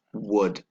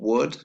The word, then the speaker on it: would: be careful with would make sure you don't pronounce the L it doesn't actually sound it's wood okay so all together